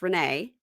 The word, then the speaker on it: Renee: Her name is spelled Rain, but it's Renee.